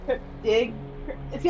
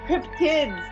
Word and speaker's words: cryptid: I don't know why, but I just kept on calling cryptic. See, I can't say it now. I just keep. It's not cryptics. It's cryptids.